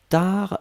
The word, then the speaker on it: tard: Upasana, attention, tar c'est T-A-R-D. Hein, donc T-A-R-D, on ne prononce pas le D.